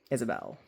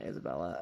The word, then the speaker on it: Isabelle: Isabelle. With an E at the end, not Isabella.